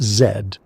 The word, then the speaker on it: Z: He called it zed, pronounced as a letter, not a word, deliberately vague, deliberately his.